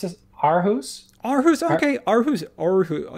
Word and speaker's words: Aarhus: Aarhus? Aarhus, okay. Aarhus. Aarhus. It's like an O.